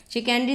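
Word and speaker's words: chicanery: शिकनरी इसका सही प्रोनाउंसिएशन है, शिकनरी बोलेंगे इसको।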